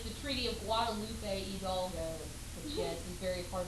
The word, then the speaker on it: Hidalgo: And it's the Treaty of Guadalupe Hidalgo, which yes, is very hard for me to say. Okay, so. I'll just go ahead and say something like this. That's how you pronounce it, that H is silent.